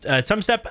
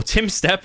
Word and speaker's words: Tumstep: We have GC Tumstep again, or Timstep, as people correctly corrected my pronunciation of his name last time, against LoGicA.